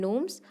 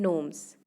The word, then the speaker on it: gnomes: So here in the poem, these two words, knights and gnomes, K is silent in knights and G is silent in the word gnomes.